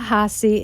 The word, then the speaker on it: Hahessy: Hahessy is with us. Am I pronouncing your name? Yes. Yes, you're good. Hahessy.